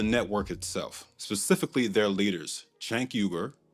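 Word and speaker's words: Cenk: Chanker, that's how the founder of TYT, Chanker, pronounces his name, by the way, and the self-labeled politically homeless Anakasparian.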